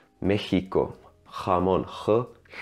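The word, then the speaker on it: México: is a back vowel in Mexico the e is the front of also so the sound is more like meheeco harm on her it's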